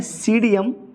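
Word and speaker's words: Psidium: तो अमरूद का साइंटिफिक नेम है सीडियम ग्वाजावा। क्या नाम बेटा? सीडियम ग्वाजावा। यहाँ पर बेटा पी जो होता है वह साइलेंट होता है, तो हिंदी में इसको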